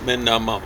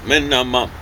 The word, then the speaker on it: minimum: It was 4 days minimum, and that's accent on each one of those syllables. Not minimum, it's minimum, okay? And the especially strong accent on the last syllable, minimum.